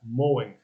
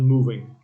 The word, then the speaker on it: mowing: not move mo five mowing not moving moving is something else mowing six more lower